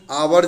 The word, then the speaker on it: hour: आवर जब लिखेंगे तो एच साइलेंट होगा तो ओ आएगा, ठीक ना बच्चों?